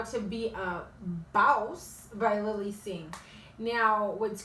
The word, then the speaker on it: BAWSE: That way you can pronounce it correctly, because it's not boss ladies, it's BAWSE.